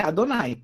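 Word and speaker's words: אדני: Então, o nome de Deus é Adonai, é assim que os judeus pronunciam, né?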